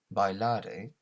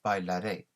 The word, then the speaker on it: bailaré: So with that, it's not bailare, it's bailaré. So that accent tells us we need to accentuate that last syllable, in this case that last vowel sound, bailaré.